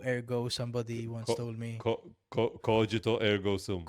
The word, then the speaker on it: Cogito ergo sum: Cogito ergo sum. It's not cognito. Of course, it's not cognito. Cognito is incognito. Is a perverted form of incognito.